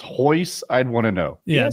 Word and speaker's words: Royce: There was the word spelled Royce pronounced Hoyce.